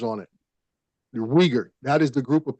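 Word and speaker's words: Uyghur: didn't understand I thought it's it's pronounced weager like that yeah weager that is the group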